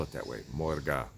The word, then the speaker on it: Morge: Morga, not Morgen. Like, don't even put the N on it.